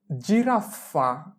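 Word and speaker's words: giraffa: এরপরে জিরাফফা জিরাফা জিরাফফা জিই জি এররে আ F rough এফে আফা জিরাফা জিরাফ অর্থ জিরাফ এখানে জি এর উচ্চারণ হবে জ এর মত জেন্তে জেনতে জেন্তে জি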